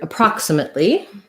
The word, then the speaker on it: approximately: Approximately has second syllable stress. So my stress is on the prox syllable. This first letter A, as is the case in many unstressed first syllables with letter A, is the schwa sound.